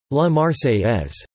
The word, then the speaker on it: La Marseillaise: La Marseillaise, French pronunciation, La Marseillaise, became the national anthem of France.